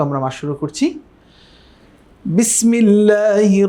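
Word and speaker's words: بسم الله: বিসমিল্লাহর মধ্যে যারা আজকে নতুন আমাদের ক্লাসটি দেখছেন হয়তো অনেকেই।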